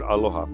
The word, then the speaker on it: aloha: and respect you so the word aloha i pronounce aloha because it's broken into two parts alo and your your presence